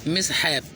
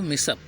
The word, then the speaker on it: mishap: मिसहैप, लेकिन पढ़ते हैं इसको मिसअप, मिसअप MISHAP, मिसअप का मतलब क्या होता है?